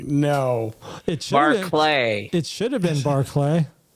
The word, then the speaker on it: Barclay: Barkley. No. not Barkley. Barkley. No. It should have been, Barclay.